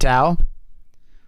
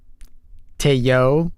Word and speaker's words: Teo: Oh, so it's just a dude named Tao. Sick. Teo. Say it right.